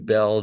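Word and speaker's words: Beall: boxes were taken by this guy Robert Vinton Bell Jr no I did not miss pronounce it you might be familiar with uh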